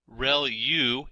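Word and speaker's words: ReLU: there are multiple hidden layers like convolution layer real U is how that is pronounced when that's the rectified linear unit that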